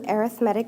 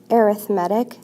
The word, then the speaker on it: arithmetic: actually predict future values here we're given two arithmetic sequences please note that the word is pronounced arithmetic not arithmetic it's an arithmetic sequence and we're